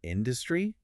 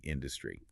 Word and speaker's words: industry: So they pointed out that people often mispronounce industry, putting the stress on the second syllable, but it should be industry.